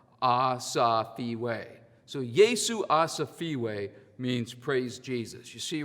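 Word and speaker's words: Yesu asifiwe: rhymes with ah uh sounds like freeway without the r ah safeway so yeesu asafeewi means praise jesus you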